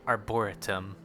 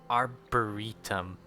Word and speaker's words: Arboretum: I thought it was pronounced like Arboretum, but it's Arboretum.